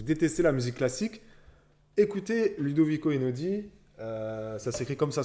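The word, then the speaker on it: Ludovico Einaudi: vendeur si vous détestez la musique classique écoutés ludovic au hainaut dit ça c'est comme ça se prononce ludovic au hainaut 10 e n e il n a eu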